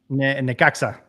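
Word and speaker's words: Necaxa: Atlas, Pumas, and maybe you can help me with the pronunciation of Nexica. Nekaka.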